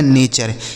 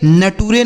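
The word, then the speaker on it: nature: चर ये लिखा गया नेचर। इसे नटूरे नहीं पढ़ेंगे नेचर।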